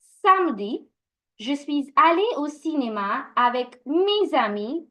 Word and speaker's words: je suis allé: We pronounce this as je suis allé. Now, this is called the liaison, as I was mentioning last week as well. The sir, the consonant that is ending, needs to be connected to the vowel